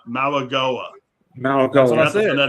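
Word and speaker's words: Mauigoa: And by the way, I got the proper pronunciation too, believe it or not. Maligoa.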